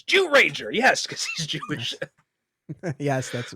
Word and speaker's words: Zyuranger: when Heim Savant says Jew rager yes because he's Jewish yes uh yeah it is it's spelled with a z but the way it's pronounced in Japanese is actually Jew um and it stands